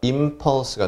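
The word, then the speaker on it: impulse: 맥박 일한다 나거든요 그리고 원래는 아이 애니 돼야 되는데 피가 입술 2개가 붙어 따 떨어지기 때문에 n 보다는 애미 발음이 편해요 그래서 임 퍼스가 되는데 잉 펄스 로 생각해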